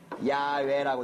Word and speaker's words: 야훼: 있는 사마리아 오경을 보니까 이걸 읽기를 어떻게 읽어요? 야훼라고 읽더라. 그러면 여호와라고 읽는 게 맞겠어요? 이렇게 읽는 게 맞겠어요? 아무리 쌍놈이지만 자기 아버지 이름은 제대로 불렀을 거란 말이에요. 그래서 야훼라는 말이 여호와라는 말보다 학계에서는 더 하나님 이름에 가까운 이름으로 쓰이는 거죠.